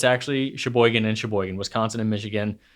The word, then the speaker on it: Sheboygan: mitten but i was informed that it's actually sheboygan and sheboygan wisconsin and michigan same place okay